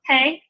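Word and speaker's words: פ: With the Dagesh Lene, with that dot in the middle, it's going to be pronounced P. But without the Dagesh Lene, it's going to be a soft P, F. Sound very much like our F sound.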